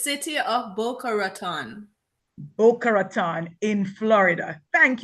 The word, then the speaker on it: Boca Raton: We will actually ask her for the pronunciation at this time. Please, Miss Blake, help me out. So it's City of Boca Raton.